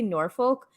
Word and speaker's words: Norfolk: say duke of what we would probably say is nor folk because it is spelled f-o-l-k but it's pronounced norfolk